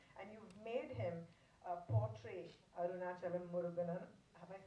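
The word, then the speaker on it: Arunachalam Muruganantham: point of view, and you've made him portray Arunachalam Muruganan. Have I said it right? Arunachalam Muruganandan. Arunachalam Muruganandan.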